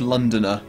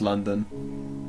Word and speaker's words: London: Down here in the south, we say London as London, but London is London in London. London has no O's in it. It's spelt L-A-N-D-U-N.